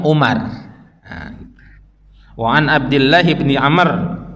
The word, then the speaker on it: Umar: Tapi kalau belakangnya ada waw, itu Amr bacanya. Tapi kalau nggak ada wawnya, Umar.